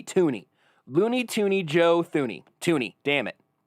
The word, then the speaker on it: Thuney: talk about joe tooney it's spelled with a th but it is pronounced toony i've cross-referenced this with